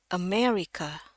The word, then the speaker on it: America: Jadi yang benar itu di bahasa Inggris itu bacanya America. E pakai E. Dia yang di akhir itu A yang terakhir itu juga pakai E. America. America. Tapi kedengarannya kan kayak bunyi huruf A ya.